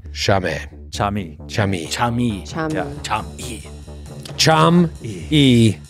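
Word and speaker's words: Cham'e: All right, how do you spell it? C-H-A-M apostrophe, apostrophe E. I. Chame. Chami.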